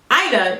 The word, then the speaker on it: Aina: to be Jackie aa aa is pronounced AA like it rhymes with China any questions C management